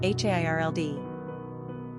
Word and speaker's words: Harold: Number of syllables, 2. Ranking popularity, 893. Pronunciation, Hairld.